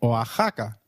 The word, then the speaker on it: Oaxaca: While X is usually pronounced as X inflexible, it is pronounced as a throaty H in the words Mexico, Mexicano, and Oaxaca, which is a state in Mexico.